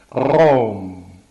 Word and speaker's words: Raum: And the other question is this question of the German for space that I considered once or twice in other work, pronounced Raum, Raum, Raum.